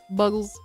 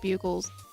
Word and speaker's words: Bugles: Buggles. I know these are pronounced bugles, but I think it's funny to call them buggles.